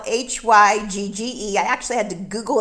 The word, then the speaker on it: hygge: is the perfect time to get hygge which is spelled h-y-g-g-e i actually had to google it to find